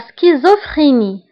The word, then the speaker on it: schizophrénie: La schizophrénie. La schizophrénie. La schizophrénie. فهنا ايضا سي اش كنطقوها بك سكيزو فريني و بي اش كنطقوها باف لا سكيزو فريني لا سكيزو فريني لا سكيزو فريني انفصام شخصية.